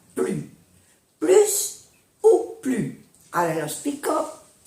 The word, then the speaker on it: plus: Plus ou plus. Ahora lo explico. Plus ou plus. Dans la négation, ne se prononce pas le S. No se pronuncia la S de plus cuando es la frase negativa.